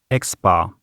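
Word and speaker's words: x̄: is the arithmetic mean the symbol for the arithmetic mean is an x with a horizontal bar above it it's pronounced x-bar the mean value of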